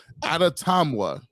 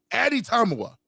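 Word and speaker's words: Adetomiwa: I don't know how to spell it it's pronounced atatama no Addy time Eddie Tommy well that's it Addy tamua there you go uh he's from Northwestern we're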